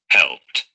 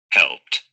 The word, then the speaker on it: helped: The pronunciation is Helped. helped. ¿Por qué se pronunció esa D al final como una T? Because before the ed ending is a P sound.